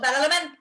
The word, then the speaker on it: Badalamenti: a lush synth score from, of course, Angela Badalamenti. Am I saying that right? Badalamenti? I don't know. I started to question myself. What'd you say, Sarah? Say it like you mean it. Angelo Badalamenti.